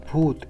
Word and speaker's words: bhut: Bhuta means spirit in Sanskrit and is pronounced Bhoot in Hindi, means ghost, and is interpreted as deity here, which means Deva or God in a cultural sense.